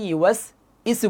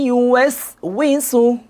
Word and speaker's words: يوسوس: এই যে আপনারা সূরা নাস পড়েন না সবাই, অনেকে পড়ি আল্লাযী ইউয়াস ইসু পড়ি। আবার এটা তো মোটামুটি কিছুটা মানে না হয়েও হয়। আর একজন পড়ে আল্লাযী ইউয়াস বিসু, এটা টোটালি ভুল। সঠিক উচ্চারণ হবে আল্লাযী ইউয়াস উইসু, আল্লাযী ইউয়াস উইসু, উইসু, উইসু।